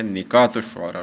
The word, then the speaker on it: نکات الشعراء: یہ لفظ صحیح اس کی جو پروننسیشن ہے تلفظ وہ ہے نکات الشعراء، لوگ نکات پڑھتے ہیں جو کہ غلط ہے۔ تو یہ ایک تذکرہ